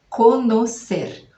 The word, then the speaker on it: conocer: Conocer. Conocer. Então a gente escreve com N, não vai ser com N, o som é com N mesmo. E ao invés do E, depois vai ser o O.